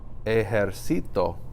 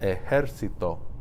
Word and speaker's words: ejército: It's pronounced ejército. That's why they have to put the accent mark over the E, because that's not the natural stress location for a word that ends in an O.